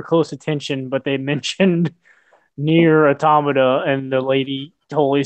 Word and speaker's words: NieR: She totally said Nier. Yep, I'm not the only ones. Fuck you guys. That's the correct way to say it.